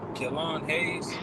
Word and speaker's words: Killian Hayes: Killon Hayes.